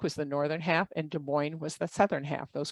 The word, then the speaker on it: Des Moines: case you didn't know Des Moines is two words and there's an s on each and a word each word we do not pronounce the S but they are there Iowa was when it